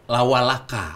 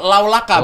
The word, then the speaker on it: Laulaka: Lawalaka. Laulaka. Oh, Laulaka bacanya, Laulaka. bukan Lawalaka. Bukan lawa. Laulaka. Laulaka.